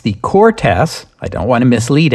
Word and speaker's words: Cortes: I said it Cortes because I thought there was an accent mark on the second syllable. Turns out there isn't, so my bad. Just for the record, it's the Cortes.